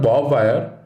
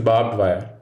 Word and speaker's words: barbed wire: bar bit you read it is not bob wire it is barbed wire no this word was a name for anyone named bob it should be barbed wire although the suffix ed